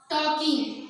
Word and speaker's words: talking: talking. इसे हम talking पढ़ेंगे, talking नहीं पढ़ेंगे क्योंकि L लिखने में आता है लेकिन पढ़ने में साइलेंट रहेगा.